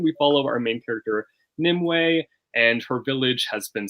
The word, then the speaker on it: Nimue: Yeah, it's Nimue. It's Nimue. Okay, that's not how I said it. Were you saying Nimu? Nimue, yeah.